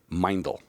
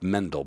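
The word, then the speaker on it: Meindl: wearing a pair of mindel now it sounds like Mendel because you don't know how to pronounce German when the E's before the I it's an I sound so it's mindful I had a pair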